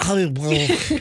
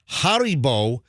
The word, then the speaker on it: Haribo: No, it's not Hollywood. It's That's how I say it. no, you know, I a don't lot of pronounce people.